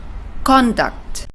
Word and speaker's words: conduct: of a word like conduct. Conduct with the stress in the first syllable means behavior. For example, he had an ungentlemanly conduct. And with the word conduct, which means direct, let me give you an example.